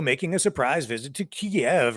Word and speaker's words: Kyiv: Here's our fearless leader, Justin Trudeau, making a surprise visit to Kiev, or Kyiv, depending on how you want to pronounce it. They say Kyiv these days over there, and he came bearing gifts, $500 million in Canadian dineros.